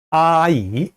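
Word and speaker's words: 阿姨: 부를 땐 어떻게 해요 아이 라고 발음합니다 i 앱 보여주세요 이모 또는 아줌마 란 뜻이에요 아 이 했죠 자아 아이라고 이름 절로 발음하면 안돼요 아 아 아 이 라고 할 때 끊어서 발음해야 됩니다 요 부분도 앞서서 음절이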